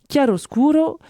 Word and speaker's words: Chiaroscuro: La fameuse appli salvatrice a reçu 1,6 million d'euros de la part de la fondation Chiaroscuro, je prononce à l'italienne, une organisation caritative catholique qui s'oppose au droit à l'avortement ainsi qu'à la contraception.